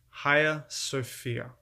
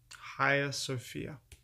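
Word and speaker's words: Hagia Sophia: it is absolutely breathtaking and its name is higher sofia higher sophia that is spelled h-a-i-g-a if you're looking this up s-o-p-h-i-a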